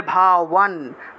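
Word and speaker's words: ভবান: অর্থাৎ এটাকে ওয়া হিসেবে উচ্চারণ করতে হবে। তাহলে ভাওয়ান ভাওয়ান।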